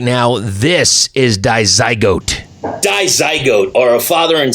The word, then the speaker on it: Dizygote: Now, I am with the band, and I'm going to say it right this time, Dizygote.